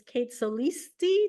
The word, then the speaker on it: Kate Solisti: It's Kate Solisti. Did I say that correctly? It's just Solisti. It's a instead of an I. Solisti. Solisti. Okay, I meant to ask you that before.